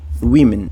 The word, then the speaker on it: women: caso para woman e women woman Women percebem aqui que tem uma diferença Clara aqui de pronúncia principalmente nessa última sílaba woman Women There is